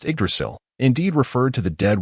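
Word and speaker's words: Yggdrasil: The game same pronounced Idrasil indeed referred to the dead world tree near the Golden Palace.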